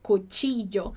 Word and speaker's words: cuchillo: Então, a primeira forma é com o som de I. Então, a gente diria cuchillo, cuchillo, cuchillo.